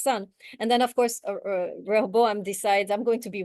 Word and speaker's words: Rehoboam: It's Rehoboam, right? How you say it in the Hebrew, you guys? How you taught? Rehoboam.